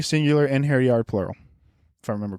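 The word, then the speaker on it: einherjar: basically it's Hotel Valhalla it's inir e singular in hair yard plural if I remember correctly thank you DJ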